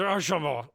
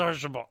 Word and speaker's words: Archambault: I say your name really fast in case I screw up your last name, the pronunciation. If you just slur It's it, okay. Yeah, just Archambault. It's just Archambault.